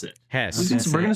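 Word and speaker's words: Höss: It is surrounding the, I believe it's spelled Hoss, but it is in the, how do you pronounce it? Hess. We're going to say huh. Hess. Hess.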